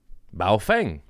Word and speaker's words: Baofeng: Baofeng Baofeng Mhm. You got to say it like that.